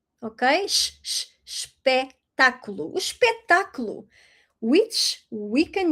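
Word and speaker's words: espetáculo: So, ooh sh-pec- ta-cu-lo. Okay? Sh-sh-sh-pec-ta-cu-lo.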